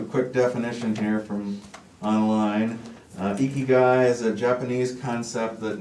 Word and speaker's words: Ikigai: We have a resolution and final plat for the key guy. Well, first I figure I'd address the elephant in the room and the kind of a distinctive name there. It's actually pronounced Ikigai.